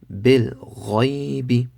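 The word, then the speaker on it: بالغيب: Bil ghaybi. Bil ghaybi. Without spelling. Wadu. Amanu. Mal qari'atu. Mal qari'atu. Bil ghaybi. Remember, ghayn is full mouth.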